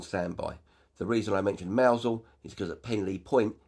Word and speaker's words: Mousehole: village of Mousehole marked on the map, spelled Mousehole but pronounced Mousehole.